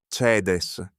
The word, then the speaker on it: caedēs: The word for slaughter with a long E. caedes, caedis, 2 syllables in the nominative, 2 in the genitive.